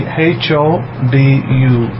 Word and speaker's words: Hodu: I can spell it out, I can write it. So it'll be H-O-D-U, Hodu.